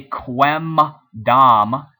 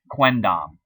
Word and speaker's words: quendam: pronounce and sounds good, trying to say quem dam takes too long. It was too hard for the Romans to say, so they shortened the M to an N, quendam, and then quandam, quorundam, quarundam, quorundam.